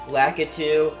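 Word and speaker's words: Lakitu: i pronounced the keychain i've heard people say lack it too i pronounce the key too because that's what i hear in mario maker you know mario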